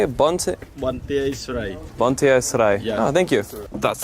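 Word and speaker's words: Banteay Srei: Bonte Esrai.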